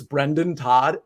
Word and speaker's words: Brendan: I always say Brandon Todd's name wrong. And it's like such a subtle thing. It's Brendan Todd, but I always say Brandon.